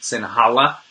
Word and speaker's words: Sinhala: we're going with someone who speaks English and Sinhala.